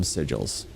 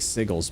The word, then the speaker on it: sigil: However, today when we use the term sigil we refer specifically to realm sigils. I like sigles better, but it's pronounced sigil.